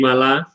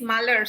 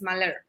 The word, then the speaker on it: Malar: Yes, hi, morning, Mala. Good morning. Okay, my name is Malar, so you have to pronounce it correctly, okay? Everybody else gets it wrong, so you have to get it right. It's Malar.